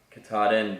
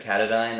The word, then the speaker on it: Katadyn: I was using the Katahdin Be Free. I think that's how you say it. One guy said Katadyn on the trail, and it totally threw me off because I have always heard Katahdin.